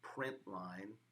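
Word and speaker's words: println: system dot out dot print line the print L n is pronounced print line and have my opening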